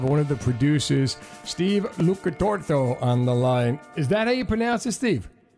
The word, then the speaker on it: Lucatuorto: I have one of the producers, Steve Lucatuorto, on the line. Is that how you pronounce it, Steve?